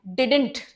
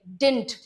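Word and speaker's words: didn't: लेकिन अगर आप दूसरा वाला जो डी है उसको साइलेंट कर देंगे तो सही है, डिंट, वो भी सही है, डी साइलेंट हो सकता है। अगर आप डिडंट बोलना चाहें तो भी सही है, डिंट बोलना चाहें तो भी सही है, गलत नहीं है।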